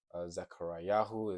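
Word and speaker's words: זכריהו: Zechariahu is how you say Zechariah.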